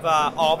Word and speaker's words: Aave: Is that the correct pronunciation? Aave, yeah.